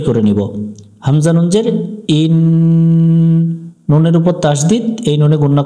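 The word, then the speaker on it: إني: পড়ে আমরা সহি করে নিব হামজা নুন জের ইন নুনের উপর তাসদিদ এই নুনে গুন্না করা ওয়াজিব এখানেও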